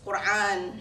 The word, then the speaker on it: Quran: our new units hmm did you need help pronouncing the words Quran had and Allah by the way it's Quran Hajj and Allah my point is when